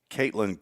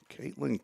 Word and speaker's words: Katlyn: Caitlin Connor, unless it's Catlin, it's spelled Katlyn.